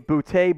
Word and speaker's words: Boutte: k sean boute and man i wish he would pronounce his name booty but it's fine i guess in the end dynamic player who could absolutely be the first receiver taken a bootay berks double b combo